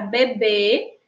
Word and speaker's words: bebê: E na palavra bebê, que também tem duas sílabas, nós percebemos aí como sílaba tônica a sílaba b.